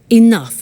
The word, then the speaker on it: enough: to concerts and exhibitions but she doesn't have enough money now this word enough enough it's written e n o u g h the pronunciation is enough does it mean let me